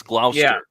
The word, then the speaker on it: Gloucester: So, I trust I trust NPR to get it Yeah, it's one of those cities like like it looks like Gloucester, but it's Gloster.